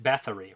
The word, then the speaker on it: Bathory: coast of belgium as a battery is it bathory right i always i always said her name wrong i say bathroom delphine sigrigs gushes with